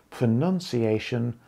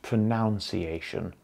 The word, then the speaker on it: pronunciation: You know that it is pronunciation and not pronunciation.